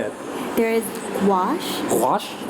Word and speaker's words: gouache: Gouache? Gouache. Yes, very Can good. you pronounce it?